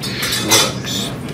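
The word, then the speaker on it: Smithwick's: It's spelled SmithWicks, but it's pronounced Schmiddicks.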